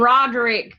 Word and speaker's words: Roderick: And Roderick kind of rhymes with Broderick.